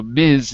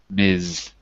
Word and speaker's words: Ms: woman with a title Miz and for men it's just Mister anyway it's spelled Ms but it's pronounced with a z Mizan K kolan I